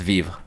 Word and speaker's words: Vivre: with you I didn't know that's how you pronounced it oh you're good and most people don't yeah it's Viva yeah no that's okay dope which means to